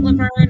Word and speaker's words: LaVergne: So you can find me on all social medias, LaVergne. My G is silent because I'm a tiny, quiet gangster.